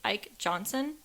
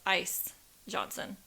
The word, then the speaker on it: Ike Johnson: But the building was managed by a man named Ike Johnson. And in the haunted tour we did, they actually got his name wrong. In the tour, they said his name was Ice Johnson.